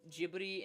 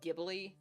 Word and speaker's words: Ghibli: And I say Ghibli instead of Ghibli, because I heard that Ghibli is how they pronounce it in Japan, so just to clarify.